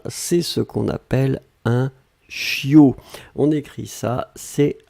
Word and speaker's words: chiot: Le bébé de chien, c'est ce qu'on appelle un chiot. On écrit ça, c'est H I O. On ne prononce pas le t final.